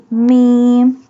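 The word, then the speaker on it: ميم: Mim. Mim pronounced from the dry part of both lips.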